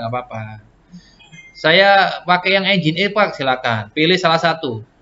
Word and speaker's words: Nginx: Anda bilang yang tulisannya ngik gitu ya. Bacanya Nginx.